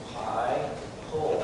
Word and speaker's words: Heigl: Command Sergeant Major Heigl was pronounced High-Pull.